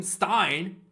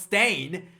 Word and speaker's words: Steyn: I've been calling him Stein. It's apparently pronounced Stain.